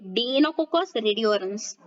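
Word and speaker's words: Deinococcus radiodurans: Then the bacterium डीनोकोकस रेडियोडरंस, ठीक है, डीनोकोकस रेडियोडरंस, ये ध्यान में रखिएगा प्रोनाउंसिएशन।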